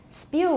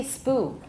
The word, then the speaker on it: spew: Spew, we cannot drop that y sound. We can't say spoo. Spudeta. There's no word spoo, except on Halloween. Maybe a spook, I don't know. Spoo. But anyway, there has to be a y there for spew.